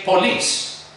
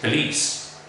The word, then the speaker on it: police: speakers will probably say police that's totally one the correct pronunciation of this word is police because the first syllable has a schwa so it's not porn